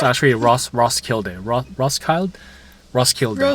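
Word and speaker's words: Roskilde: I call this place Rock Slide. I know that's not how you say it, but we also I agree. Ross. It's It's like Ross Kild.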